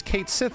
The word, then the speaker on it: Cait Sith: the Japanese version better right oh we should pronounce it this way Japanese version better and it's like no dude his name is Kate Sith over here like that's the translation of the